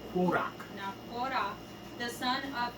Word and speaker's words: Qworach: We should probably pronounce his name Qworach, right? Because it's a kuf. Qworach.